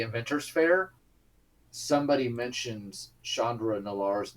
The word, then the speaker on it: Nalaar: Chandra Nalaar's name, and Dovin actually pronounces it correctly, Nalaar, which the other people there were, because the rest of her friends have basically just taken their best shot, but he said it like a native, and he's like, that